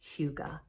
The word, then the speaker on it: hygge: the the hyuga h-y-g-g-e which i did look up how to pronounce that and that is pronounced in english as huga which refers to just